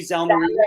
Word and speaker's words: Zalneraitis: Zalneraitis.